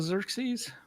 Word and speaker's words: Xerxes: Do we have a Xerxes? He's the. Well, We have that's Xerxes. Mr. Nezer. Yeah, Oh, it's this not is the right Xerxes. Xerxes. It's Xerxes.